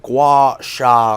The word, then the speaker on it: gua sha: So I'm hoping you can explain to me exactly what a gua sha quartz is, please. Well pronounced.